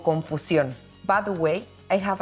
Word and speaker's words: confusión: And same as confusion, we have an accent in the last syllable, so we must accentuate the pronunciation when we say this word in Spanish, confusión.